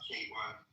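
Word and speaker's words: Keyvan: My name is pronounced K1. It's like a letter K and number one.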